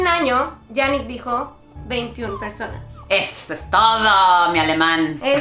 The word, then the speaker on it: veintiún: In my moments of learning I might have said "veintiuna personas" but the correct thing is "veintiún personas" a year ago he already told us "veintiún personas" -That's it my German!